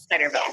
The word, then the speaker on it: Zijderveld: You t- No, I mean, like you said it the way that the Dutch people would say it, which is Zijderveld. So, like, yeah, but yeah, I say Zijderveld with a harder yeah.